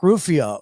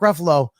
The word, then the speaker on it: Ruffalo: people are are like and actors mark mark ruffia roofio whatever the his name is what's this how do you say it mosh ruffalo mark ruffalo was talking about these guys that they got